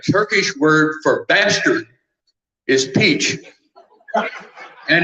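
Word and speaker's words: piç: word for bastard is peach and it is pronounced exactly as you pronounce peach in English and he said not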